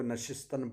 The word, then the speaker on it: نشستن: گا، نشستن مصدر سے۔ بہت لوگ نشستن پڑھتے ہیں، اس کا تلفظ کیا ہے؟ نشستن۔ مانت وہ رہے، رہتا